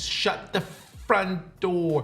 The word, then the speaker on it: shut the front door: And you have to say it like this, shut the front door. You have to put stress on F because it sounds like the F word.